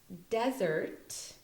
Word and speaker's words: desert: or dessert so here desert is a noun there's emphasis on the de part of the of the word and then it is pronounced like a z desert okay and um a